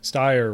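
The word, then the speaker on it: Steyer: Styer rhymes with buyer.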